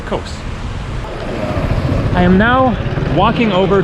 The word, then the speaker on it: Kos: of the town wrong, that it actually wasn't Kos, it was more like Kos, something like that. But when I flew in here a week ago, then the flight attendants pronounced it more like Kos, and so I'm going to stick with Kos.